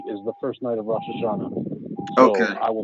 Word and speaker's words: Rosh Hashanah: It's Rosh Hashanah is the proper pronunciation. No, we But said Rosh Hashanah over here.